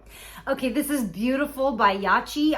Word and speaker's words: Yachyee: this is Beautiful by yachi I think that's how you say it y a c h